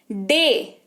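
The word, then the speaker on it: day: डे, डी ए वाई, डे दिन।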